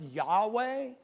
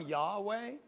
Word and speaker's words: Yahweh: names of our God in the Hebrew it's roughly pronounced Yahweh the American Standard calls it Jehovah and that's where you get that word from Yahweh but it translated it